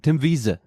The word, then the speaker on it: Wiese: Tim Weiss, right? Tim Wiese. That's what you say.